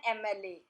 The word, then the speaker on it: MLA: An MLA. Sound is of A, not M.